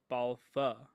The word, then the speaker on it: Balfe: It's Katrina Balfa. Katrina Balfa. Katrina Balfe? Okay. Much easier, but certainly not how it's spelled, right?